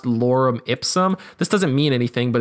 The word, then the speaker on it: lorem ipsum: Sometimes placeholder text can look like this, where it's kind of pronounced lorem ipsum.